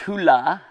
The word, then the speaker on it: Hula: called i think is pronounced hula like hula hoop but anyway and then